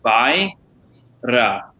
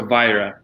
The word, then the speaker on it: Vajra: as if it was Vajra, so Vajra. So you think Vajra, right? There's no, we don't pronounce the J as hard as we do here in America.